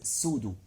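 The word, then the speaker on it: pseudo: a non-specific is called sudo and remember p is silent doctor why God makes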